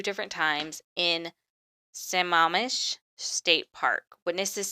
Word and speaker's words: Sammamish: I'm going to mispronounce this because I heard it's pronounced like a lot of times today. It's Sammamish. No, I think I said that right. Sammamish.